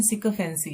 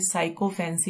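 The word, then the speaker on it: sycophancy: सिकफेंसी, इसकी प्रोनाउंसिएशन सिकफेंसी है, लेकिन अगर हम इसको देखें तो ये हमें साइकोफेंसी लग रहा है। तो हम इसकी ट्रिक साइकोफेंसी से ही बनाएंगे रिलेट करके, लेकिन इसकी प्रोनाउंसिएशन है सिकफेंसी।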